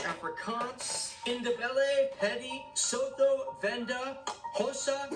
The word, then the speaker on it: Xhosa: Those are English, Afrikaans, Indebele, Pedi, Sotho, Venda, Xhosa, and that is Xhosa with a click, that's how you pronounce it. Xhosa.